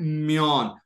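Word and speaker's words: muon: अच्छा, म्योन, आपने word pronounce क्या करना है? म्योन।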